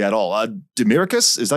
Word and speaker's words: Demiricous: able to pronounce it correctly at all uh demiricus is that how you pronounce it yeah yeah yeah yeah yeah okay